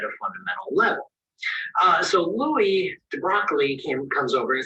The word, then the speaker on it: de Broglie: Everyone, I can't pronounce that name. De Broglie?